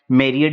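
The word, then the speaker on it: myriad: तो क्या आप जानते हैं इसका प्रोनाउंसिएशन क्या है? मेरियड इसका प्रोनाउंसिएशन है, जिसका मतलब होता है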